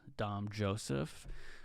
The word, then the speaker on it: Dom Joseph: um so welcome to the new episode of dom joseph podcast i'm your host dom joseph um you can spell that d-o-m-j-o-s-e-p-h if you guys were confused on